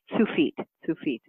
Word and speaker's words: Tsufit: So I'll just tell you a funny story, and then I'll tell you how you pronounce my name. But actually, my name is Tsufit.